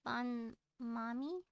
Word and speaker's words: Bon Mommy: um hello, Bon Mommy. Bon Mommy, yes, Bon Mommy's one of my friendos. You Hi, Bon mispronounce Mommy. it. It's kind of like have you ever eaten a banh mi sandwich, the Those are pretty Vietnamese good.